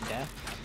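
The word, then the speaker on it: です: It's spelled D-E-S-U, but pronounced death.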